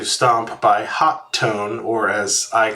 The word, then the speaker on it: Hotone: The name is spelled Hotone, which looks like either Hotone or Hot One, but I think it's actually supposed to be pronounced Hot Tone, and the T is shared, but I'm not really sure.